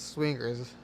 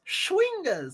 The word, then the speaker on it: schwingers: it's legal to hunt swingers no no no not swingers schwingers like little elemental creatures